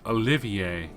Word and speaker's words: Olivier: oliver rhys arner yeah apparently the actual pronunciation of the name he goes under is olivier that just sounds so